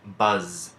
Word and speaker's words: buzz: move on to Z Z can be silent as in buzz and in buzz we're seeing those two consonants traveling together so only one is sounded but can also make